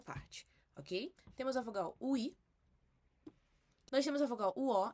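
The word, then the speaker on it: 의: Você pronuncia a vogal U e acrescenta o I. UI, UI, ok?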